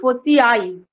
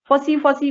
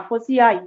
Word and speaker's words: foci: Plural form of ফোকাস, প্রোনাউন্সিয়েশনটা আসবে কিন্তু ফোসিআই, ফসি ফসি করবে না, ফোসিআই।